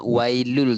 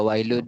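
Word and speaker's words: وَيْلٌ لِّ: Kita tengok perkataan wailul, tanwin bertemu lam. Idgham memasukkan tapi tak dengung. Tu kita bacanya wailul terus. Tak ada wailun likul, bukan wailun, dia wailul. L-U-L. Buat satunya.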